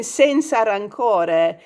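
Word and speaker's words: senza rancore: rancor that's not how people talk in italian sensa rancore is how you say no hard feelings in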